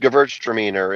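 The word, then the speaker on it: Gewürztraminer: Gvert dramor. It's it's pronounced gvertiner.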